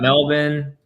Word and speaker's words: Melbourne: you go one one from Melbourne Melbourne got Melbourne that's how you pronounce it right JC yeah good if you're